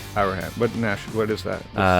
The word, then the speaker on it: Auerhahn: How do you pronounce? Auerhahn. Auerhahn.